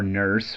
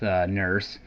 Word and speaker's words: Nourse: I've heard it pronounced Nourse or Nurse. We'll go with Nourse.